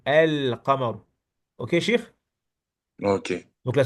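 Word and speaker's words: القمر: le lemme, tu dis car le qaf, la lettre qaf, c'est une lettre lunaire. Donc lorsqu'on colle la lettre qaf à l'article, on doit prononcer le lemme de l'article. El-qamar.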